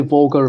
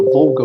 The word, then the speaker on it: Volga: Russia of Olga River so we don't say vulgar but we say the Volga River and then we have